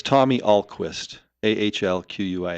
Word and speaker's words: Ahlquist: for people spell the name for them and pronounce it for them so it's Tommy Alquist AHL quu i s t yeah and they'll